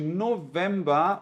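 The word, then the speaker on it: November: fosse de um F Só que no caso de novema o v aqui né o F né que a gente chama em alemão ele vai continuar com a mesma pronúncia do V igualzinho do português tá Não é para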